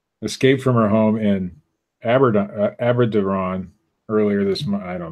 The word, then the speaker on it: Aberdaron: escaped from her home in Aberdaron earlier this month. I don't know. That's probably mispronounced. Aberadon. No, I'm sure that's perfectly fine, Steve. Aberdaron. That's it.